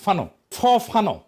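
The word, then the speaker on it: Fanon: ফরাসি আলজেরিয়ান চিন্তাবিদ ফানো নাম আসল উচ্চারণটা, উনি বলছিলেন পরাধীন জাতিগোষ্ঠী লড়াইয়ের ভিতর দিয়ে নিজেকে চিনতে শেখে।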